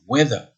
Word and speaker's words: whether: temps, hein, le temps, weather. Mais vous avez aussi le mot weather, et vous remarquez bien l'écriture alors que ça se prononce de la même façon.